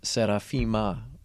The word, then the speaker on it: Serafima: Well, my wife is Russian and Ukrainian, and her grandmother's name was Serafima, with an M sound at the end.